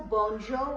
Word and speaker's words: bonjour: You know very well bonjour. We have been doing it for long. Bonjo R sound will not be pronounced here.